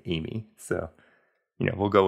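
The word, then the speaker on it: Eighmy: The normal girl's name, my wife's name, Amy, but I think it is pronounced Amy. Yeah, it's spelled E-I-G-H-M-Y, which, you know, I think if I recall correctly at argument, everyone was saying Amy.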